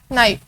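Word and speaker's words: knife: For lunch today she कट the fruits with dash नाइफ, के silent sound है, नाइफ and consonant a नाइफ।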